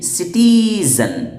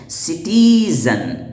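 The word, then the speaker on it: citizen: तो देखिए सिटीजन में सी के बाद आई है, तो इसका प्रोनाउंसिएशन सी का सीन वाला हो रहा है, ना कि काफ वाला।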